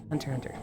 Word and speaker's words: Hunter x Hunter: Anytime you see a Japanese IP, anime, manga, light novel, if it has an X between words, you don't pronounce the X.